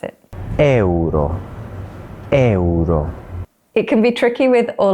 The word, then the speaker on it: euro: So try splitting it into 2 syllables. Grazie. Grazie. And what about the Italian for euro? It's another really common word that we need to say all the time. How do we pronounce it? Euro.